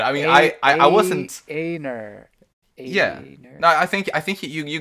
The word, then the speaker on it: Einar: Gosh, I was all over the place with pronunciations. I'm so sorry. Oh, don't worry about it. I mean, I wasn't. Einar.